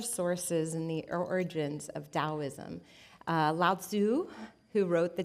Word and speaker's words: Daoism: So, it's spelled with a T or a D. It's pronounced with a D. Um, so you'll see it both ways, but Daoism originated about 2500 years ago.